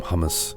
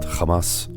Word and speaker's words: hummus: we're going to use some humus not Hamas on the side over